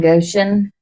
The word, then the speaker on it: Goshen: Says no flies will be in Goshen.